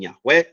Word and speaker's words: Yahweh: and long series on why yah is the incorrect pronunciation and Yahweh is the correct pronunciation very very convincing Series